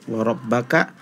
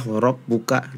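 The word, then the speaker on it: وَرَبَّكَ: Terus di surah Al-Mudaththir di ayat ketiga warabbaka, tadi dibacanya warabbuka. Nah itu berarti salah harokat.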